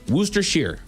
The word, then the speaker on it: Worcestershire: It's It's It's It's actually pronounced Worcestershire. Worcestershire Woos- Wooster like like as in Boston.